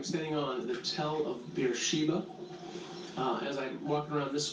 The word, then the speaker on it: Beersheba: Judah from Dan to Beersheba. So this is Beersheba in Hebrew.